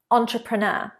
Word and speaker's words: entrepreneur: Entrepreneur. And don't forget, this is a French word. So we have entrepreneur, but some people also say entrepreneur.